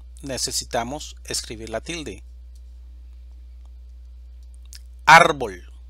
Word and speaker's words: árbol: necesitamos escribir la tilde árbol división silábica árbol sílaba tónica ar es una palabra grave o llana y termina en una consonante diferente a n o s por lo tanto necesitamos marcarle la tilde a la vocal a difícil división silábica difícil